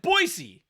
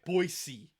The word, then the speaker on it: Boise: right boise boise okay it's bo i se let's break this down phonetically boy bo i s ii if it was Boise there should be two E's there if it's phonetically like like /b Oh you know with that how you doing and then s e then e / then it would be Poissy otherwise it's Boise there's one asks in